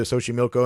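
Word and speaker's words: Xochimilco: that was nice but definitely recommend going to sohi Milo and if you're wondering it's spelled x o c h i m i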